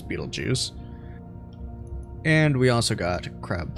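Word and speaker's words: Betelgeuse: here we are again we have Beetle Juice or Bal juice however people want me to pronounce that I'm going to go with the uh common American pronunciation which is Beetle Juice and we also got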